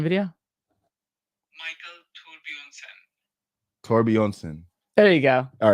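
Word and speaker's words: Thorbjornsen: Are you just watching his pronunciation video? Michael Torbjornsson.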